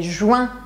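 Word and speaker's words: juin: temos um mês de Juan a que as pessoas vezes tem dificuldade porque querem falar ruim mas a gente não para não sei se está é Juan Juan meio que dá um sorriso assim Juan Juan pensa em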